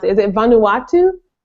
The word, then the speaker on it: Vanuatu: in the Peace Corps in I I can't pronounce it is it Vanuatu correct um which is a country off the